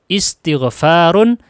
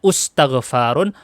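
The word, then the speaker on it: استغفار: Contoh, istighfarun, istikbarun, intiqamun. Tidak mungkin dibaca ustaghfarun atau astaghfarun atau astakbarun. Nggak mungkin. Pasti dibacanya istighfar, istikbar, intiqam.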